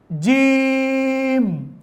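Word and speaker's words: جيم: আমরা অনেকেই যখন কোরআন শিখি এই জিমটাকে অনেক খুব শক্তি দিয়ে পড়ি, জিম, এরকম শক্ত করে পড়ি। হ্যাঁ, জিম হচ্ছে শক্তর হরফ, কিন্তু এত শক্ত না। এমন শক্ত করতেছেন যে আপনার উচ্চারণ করার সময় আপনার এই শারীরিক গঠন বা মুখ চোখ যেন ফুলে যাচ্ছে, মানে আপনি কেমন শক্তি দিয়ে পড়তে হচ্ছে বোঝা যাচ্ছে, এরকম হবে না। স্মুথলি বলতে হবে জিম, জিম।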